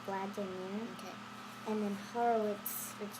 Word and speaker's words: Vladimir: So VL Vla with the A, so Vla, and then DIM Dim, and IR ear, so Vladimir.